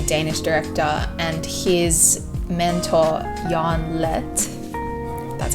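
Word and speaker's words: Jørgen Leth: So basically it's a documentary filmed in 2003, and it's Lars von Trier, the crazy Danish director, and his mentor Jan Lett, that's how you say it, kind of battling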